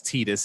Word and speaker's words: Tidus: His name is Tidus and not Titus, whatever.